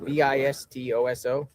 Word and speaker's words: Vistoso: V I S T O S O.